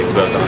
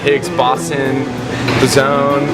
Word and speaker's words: Higgs boson: up afterwards be like i know how to say expose on but then they're like higgs boson zone like i've heard it